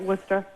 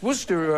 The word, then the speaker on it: Worcester: is it Kathleen yes now Worcester is w s t e r what is how do you say this we say it Worcester you say like I said it's Worcester uh Massachusetts you watches